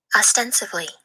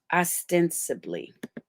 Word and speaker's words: ostensibly: that picture and let me make sure I pronounce this right. Copy. That's what we do here. Paste. Ostensively. Ostensively. Apparently or purportedly, but perhaps not actually. Meaning it's false. Get out of here. Okay. Ostensively. Ostensibly.